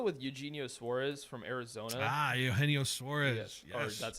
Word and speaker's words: Eugenio Suarez: Eugenio Suarez.